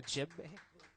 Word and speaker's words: djembe: the djembe. The djembe. The D is silent.